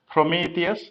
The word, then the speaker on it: Prometheus: most popular monitoring tool is prometheus for kubernetes prometheus that's how it's pronounced the r-o-m-e-t-h-e-u-s there is a movie on